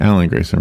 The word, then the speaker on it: Alan Grayson: Alan Grayson, 58 years old, Did I say his name right? Alan Grayson, right?